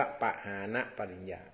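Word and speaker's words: ปหานปริญญา: พุทธศาสนา เ เรียก ว่า ปหาน ปริญญา อ่า ปหา ปริญญา ก็ เขียน ประมาณ ว่า ป ปลา หอ หีบ สระ อา น หนู นะ แล้ว ก็ ปริญญา เรียก ว่า ปหา ปริญญา อ่าน ว่า ปหาน ปริญญา ที นี้ ตาม ตัว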